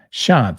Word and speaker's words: Shant: Shant. See, I say it correctly. It's the English A. Shant. You don't say like American. Shant. That's awful. An American. Shant. It's Shant.